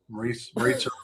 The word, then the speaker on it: Maritza: I wasn't aware of it until I got this thing from Maritza rhymes with Pizza Giorgio.